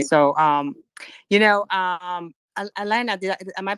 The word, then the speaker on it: Alena: you're so funny so um you know um alaina did am i pronouncing your first name correctly i think i it's selena alina oh that's okay no no actually i was